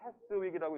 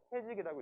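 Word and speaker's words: Keswick: 여기 보면 영어로 하면 이제 캐스윅이라고 읽을 수 있는데 S는 묵음입니다. S라는 건 안 읽어요. 그래서 영국 사람들도 캐스윅이라고 읽지 않고 캐직이라고 읽습니다. 캐직이라고 있는데 휴양도시인데 여기서부터 이제 시작된 거예요.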